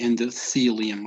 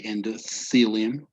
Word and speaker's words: endothelium: uh it would be endothelium right the pronunciation between a tea and an h it's like when you put your tongue between your teeth and you say endothelium okay that would be